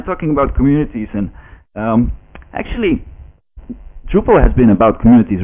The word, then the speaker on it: Drupal: so so it was renamed to Drupal which is actually how you pronounced to hop to the pole in in Dutch so so just as